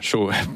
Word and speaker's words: Cho: coréen David yongi Cho on prononce cha voilà chaud qui est pasteur de